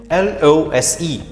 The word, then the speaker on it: lose: L-O-S-E. The pronunciation of this word, lose.